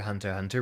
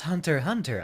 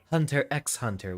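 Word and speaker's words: Hunter × Hunter: you're supposed to pronounce the x is silent you could say could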